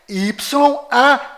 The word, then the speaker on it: YAUH: Ou seja, o código secreto deste cofre é YAUH.